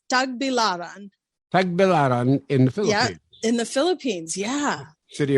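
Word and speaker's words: Tagbilaran: in the city of take bill iran did i get that right uh the the syllable in the syllabuses is a little wrong it's tag bilaran in the philippines yeah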